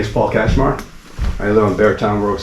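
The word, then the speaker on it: Katchmar: Hi, my name my name is Paul Kashmar. I live on Beartown Road South. Can you spell that for me, please?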